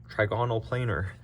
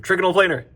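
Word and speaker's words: trigonal planar: You don't need to actually know how to pronounce these things, but trigonal planer. That's how you say it.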